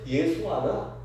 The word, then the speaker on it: 예수아: 우리는 그냥 예수라고 우리 성경에는 번역되었는데 정확한 발음은 예수아입니다. 근데 예수아나 구약 성경의 여호수아나 똑같은 말이에요.